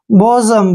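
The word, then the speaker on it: bosom: clear next word देखिए बी ओ एस ओ एम बी का उच्चारण ब करेंगे ओ को ओ पढ़ेंगे एस का उच्चारण ज करेंगे जब भी एस से पहले ओ आता है तो एस का उच्चारण ज करते हैं और ओ एम का उच्चारण म करेंगे बजम क्या पढ़ेंगे इसको बजम बजम होता है प्यारा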